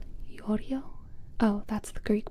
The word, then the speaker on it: Giorgio: I think I also disappears in Giorgio. Oh, it's Yorio.